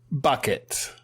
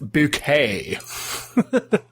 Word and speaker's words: Bucket: Bucket. Accuracy. It's pronounced bouquet.